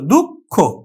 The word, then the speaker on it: দুঃখ: হচ্ছে কিন্তু মহাপ্রাণ বর্ণ খ হলো মহাপ্রাণ বর্ণ যার জন্যে খ এর অল্প আগে যে ওই বর্ণটি ক সেটি কিন্তু অল্পপ্রাণ এজন্য কিন্তু এখানে ক উচ্চারিত হলো দুঃখ তাহলে আমরা বিসর্গের উচ্চারণ